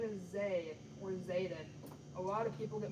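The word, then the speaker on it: Zaiden: Yes, Buford, my name is Zay, or Zayden. A lot of people get my name wrong.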